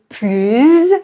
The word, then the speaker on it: plus: par une consonne je vais prononcer plus avec un Z si le mot qui suit commence par une voyelle ou par un h